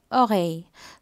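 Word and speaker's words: oreille: இயரை நீங்கள் ஒகை, so again இதில் double L வருது, அந்த டபுள் எல்லை நீங்கள் வாய் போல தான் சொல்லணும், ஸோ ஒகை.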